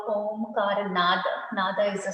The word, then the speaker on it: om: to do prama so a u m are the three syllables in the prama okay and and actually the word om um signifies a u n n Okay so it starts